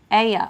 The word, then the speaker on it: Elijah: Melissa says, Amy, to pronounce Elijah's name, it sounds like Aya.